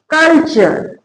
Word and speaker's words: culture: जब वर्ड में टी के बाद URE हो तो टी एक संयुक्त अक्षर के रूप में उच्चारण किया जाता है, तो वो क्या बनता है? च। उच्चारण क्या हो जाएगा? च।